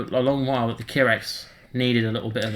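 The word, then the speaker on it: Kihraxz: Now, is that how you pronounce it? The Kirax? I've always pronounced it the Kirax. It's probably something more like the Kizarax or something like that. I don't know, but I always call it the Kirax. Kirax sounds nice. I think the Z is silent.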